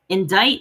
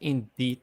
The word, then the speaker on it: indict: Indict, the C does jack shit. Indict. Not indeed.